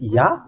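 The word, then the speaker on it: יה: Hebrew one it's yeah there is no need to change this into y yo y that is not okay okay so because we have seen the the way to read this yah it is obvious and even the the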